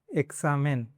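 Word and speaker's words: examen: Between vowels, मतलब अभी ये 21 है, इसके पहला और बाद में वावल्स है, ए और आ है, तब उसको क्स पढ़ना है। फॉर एग्जांपल एक्सामेन, एक्सामेन मतलब एग्ज़ाम, एक्सितो,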